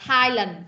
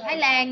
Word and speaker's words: Thailand: Khi mà mình đọc tiếng Anh đó, thì mình đọc là Thailand, Thailand, chứ mình không đọc là Thái Lan nha.